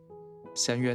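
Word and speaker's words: 神猿: 「Masaru」的發音與「邪靈離去」相似，因此據說佩戴繪馬或飾有神猴圖案的護身符可以帶來好運，驅除厄運。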